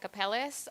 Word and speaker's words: Capeles: Think about heaven and hell, and then Angela. That's the right pronunciation.